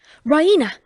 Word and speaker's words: Raina: Raina she pronounces idaraina with the stress on the E raena she goes to the